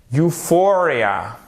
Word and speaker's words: euphoria: Euphoria. Ici, on a un accent tonique sur le F. Euphoria. Donc, vous voyez, c'est prononcé comme un U.